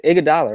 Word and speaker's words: Iguodala: Is that how you pronounce his name? Right, it's Iguodala, right?